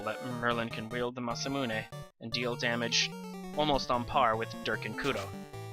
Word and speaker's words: Masamune: I said last section it says mazmun but it's actually there's actually supposed to be a second a behind the S and that's of course pronounced masamune once again we are